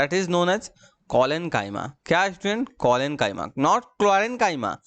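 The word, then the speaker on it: collenchyma: कॉलेनकाइमा के कारण, याद रहे, क्लोरीन नहीं कॉलेन।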